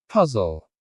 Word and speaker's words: puzzle: Puzzle. The stress is on the first syllable.